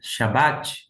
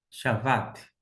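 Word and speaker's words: שבת: em termo de pronúncia no hebraico antigo nós temos um Vet porque se tivesse um dages dentro seria um som de B de bola um um B duro B seria Shabat mas como aqui não tem um D guix desta forma conforme a escrita a pronúncia do hebraico bíblico seria x VAT chavat chavat eh é a pronúncia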